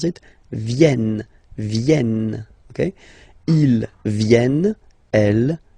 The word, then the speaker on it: viennent: Ils viennent. So remember this classic ending ENT for the third person of the plural is here, but phonetically it doesn't exist, so you don't pronounce it. Viennent, viennent, okay?